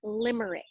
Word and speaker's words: limerick: L the L letter and this is for Limerick okay L I am er IC K so it's lime it's spelled lime Alaia me Ric Ric K but